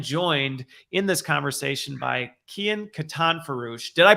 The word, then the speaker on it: Kian Katanforoosh: today I am joined in this conversation by Kian Katan farouche did I pronounce it right it's been a while since